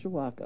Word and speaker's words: Mishawaka: Misha okay we to practice that one Misha Mishawaka okays you say it just like does but you got so many letters in there it looks weird people usually can't pronounce it right Mishiwaka I'll work on it okay I oh lordy